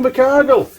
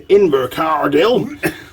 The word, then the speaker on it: Invercargill: We're down in Invercargill.